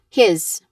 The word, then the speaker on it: his: That's why there are words that are spelled with letter S but is pronounced with the buzzing sound or the letter Z sound. It's not here. Ah, yeah, it's here. His. Again, his.